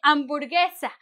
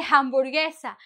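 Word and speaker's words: hamburguesa: Amborgesa. Many people say hamburgessa, but no, I know it was an English speaking creation.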